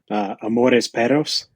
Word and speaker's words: Amores perros: Amores, perros. So you just rolled your R's a little bit. You got to roll those R's.